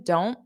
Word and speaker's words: don't: So you can just say, I don't. So you put your mouth in the T position, don't, but then you don't push out the sound.